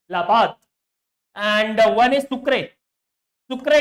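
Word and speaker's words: La Paz: actually two Capital laad which is written as lapas and pronounced as laad and one is SU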